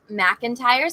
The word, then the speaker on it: McIntyre: Eric, and I see you said it's pronounced McIntyre, so Eric McIntyre.